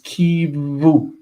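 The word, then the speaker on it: קִוּוּ: The fact that there's a vowel here under the kuf means that this cannot be read as u. It has to be read as va. So this is kiv, and this is a doubling dagesh, kiv, and then shuruk.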